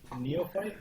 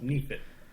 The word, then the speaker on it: neophyte: So the word he had was neophyte, but apparently it's pronounced neophyte, and it means a person who's new at the subject or a skill or belief.